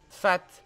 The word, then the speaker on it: fat: Jeune fat. Ou jeune fa, c'est quoi un fa? Fat. Qui montre sa prétention de façon déplaisante, un peu ridicule. Adjectif masculin, un fat. Ça se prononce comment? Fat. Fat.